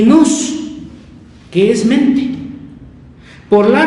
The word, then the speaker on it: nous: de este término son dos meta y luz se escribe no nous N O U S meta y nos y fíjese aquí el luz quiere decir mente